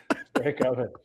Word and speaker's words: Stankoven: Stankoven. Clean your oven.